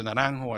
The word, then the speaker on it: Naranjo: Is it a hard J or a soft J? Claudio Naranjo. Naranjo. Okay, I got think it. it's Naranjo.